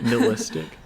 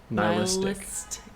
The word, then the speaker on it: nihilistic: Nilistic. Neil Oh, it's not neistic. Nistic. Yeah, just a n like a nihilist. Niilistic.